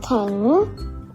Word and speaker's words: แข็ง: อื่น กัน เลย ค่ะ แข็ง อ่าน ว่า ขอ แอะ ง แข็ง อ่าน ว่า เธอ